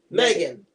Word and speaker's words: M3GAN: As you can see in the title, we are going to review the movie Megan. Now, of course, it's spelled M3GAN because apparently it's the Mark III model or something like that.